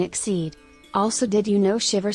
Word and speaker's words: Xyz: Fun fact, the Yu-Gi-Oh term XCY is pronounced Xyz as in exceed.